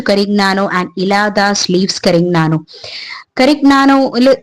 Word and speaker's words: Carignano: Carignano G is silent because it is Italian word.